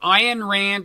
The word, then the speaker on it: Ayn Rand: Did not Ayn Rand, and that's another name I'm probably mispronouncing, right? That one you got right.